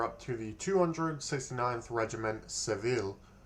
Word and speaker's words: Seville: Now, we are up to the 269th Regiment, Seville. Or Sevilla, I believe, is the other pronunciation.